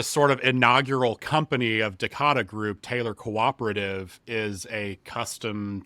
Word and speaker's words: Decada Group: Is it Decada Group? Is that how we pronounce it, Chase? Yeah, you got it, Kevin. Yeah, Decada Group.